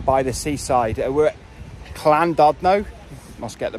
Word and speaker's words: Llandudno: We're at Llandudno, must get the pronunciation correct, and we are going to be doing some filming locations.